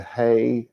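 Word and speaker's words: ה: this because it's feminine they put the hey which we pronounce like a h um which in Hebrew that's not even right because in Hebrew it's a breathing out sound it's not actually a a letter as it were but they put that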